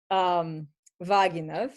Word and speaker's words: Vaginov: One thing that we felt should be addressed immediately is his name, Vaginov. So the stress is on the first syllable.